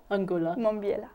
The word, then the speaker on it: Angulo Mombiela: So it's Angulo Angulo Mombiela. Mombiela. Yes. So pretty. What a lovely Thank name. you. So they all have Angulo Mombiela. They all have 3 syllables.